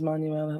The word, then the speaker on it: Manuela: Pronunciation is Manuela, like the Spanish name.